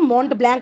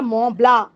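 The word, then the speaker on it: Mont Blanc: এলবু এন্ড ম ব্লা এখানে কিন্তু মন্ট ব্ল্যাংক নয় উচ্চারণটা মলা তাহলে আপনার গল্প পড়েই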